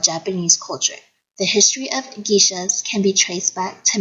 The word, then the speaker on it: geisha: want to mention that the word gisha how most of a say is actually pronounced gisha captivating the world with